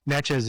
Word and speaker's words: Natchez: And actually, pronunciation, Natchez is an anglicization of what they say.